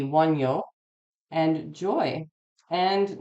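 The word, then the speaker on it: Wunjo: So this is Wonjo. And I might be saying, I'm probably saying that wrong because they actually pronounce their J's like Y's there. So that would be Wonyo and joy.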